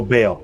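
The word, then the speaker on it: Bael: pronouncing it wrong wrong it's b a e l oh Bale yeah B There we go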